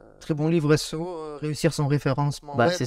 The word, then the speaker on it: SEO: Faut que j'arrive à le dire SEO. Ouais. Parce que ça se dit pas SOO apparemment. Donc avant qu'on se fasse attaquer dans les commentaires, SEO.